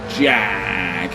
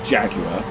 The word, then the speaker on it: Jaguar: You can't say Jaguar, you've got to say Jag. Unless you're American, in which case you've always been saying it wrong. It's Jag, or Jaguar, not Jaguar.